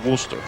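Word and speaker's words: Wooster: The proper pronunciation is Worcester.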